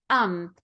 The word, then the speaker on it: I'm: that doesn't happen and we will say um instead of I'm and that's what we're